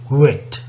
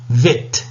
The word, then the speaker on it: wet: told you you know whenever you have a word beginning with w you ought to round your lips because uh when you round your lips then only you uh pronounce it correctly wet otherwise you know if you're if you're pronouncing it with a spread lips then it will become vet you know Veterinary doctor